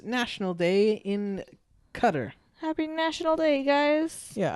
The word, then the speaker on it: Qatar: a Qatar holiday, and I thought it was pronounced Qatar. Mm-hmm. But I actually looked up the pronunciation. It's Qatar.